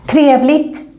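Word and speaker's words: trevligt: for the first time triablit means nice in this context and here we don't pronounce the g so much it's like we're saying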